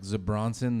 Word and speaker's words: Zebra Johnson: um you can't find it was spelled like one word like zebronson the J was silent um but you can't